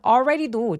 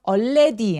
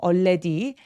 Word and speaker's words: already: already 아니죠. already. 자, A하고 L 이렇게 같이 있을 때 특히 L 발음이 리을 받침처럼 이렇게 표현될 때에는 L 발음이 다크 L이라고 하는데요. 이 L 발음은 거의 없어지는 것 같은 느낌? 그냥 이렇게 벌어지고 끝나요. 그래서 already가 아니고요. 이렇게 끝나요. already. already. 그래서 L 발음 없다라고 생각해 주시고 already 발음하시면 됩니다.